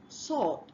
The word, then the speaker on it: sword: right now we have sword it's not sword the W is silent and then we have